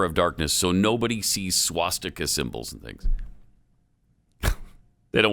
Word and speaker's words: swastika: There's no R in the word swastika. No, that's why you say it. That's the way you say it. That's the pronunciation of the word.